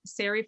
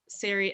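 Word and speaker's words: Sari: god to notice um sarri fordham siri s-a-r-i um say it like mary it's a memoir set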